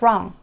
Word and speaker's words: wrong: 조심해야 되는 건 What's wrong? 할 때 이 잘못된 wrong은 롱다리와 다르게 알파벳 R이 있으니까 혀를 꼬아서 wrong, wrong 이렇게 발음해 주세요.